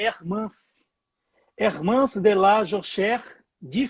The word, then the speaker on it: Ermance: pois é, tem muita gente falando que o nome dela é Hernance, com N de navio, e não é com M de Maria, é Hermance.